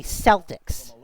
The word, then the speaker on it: Celtics: But but yes, if you're talking about the basketball team, you say Celtics.